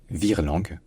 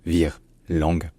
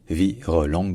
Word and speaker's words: virelangue: parfois sans tiret et donc ça se dit soit en deux syllabes la plupart du temps vire langue voilà vir langue mais aussi parfois selon le contexte selon le registre selon la vitesse ça peut devenir vir langue en trois syames en fait c'est un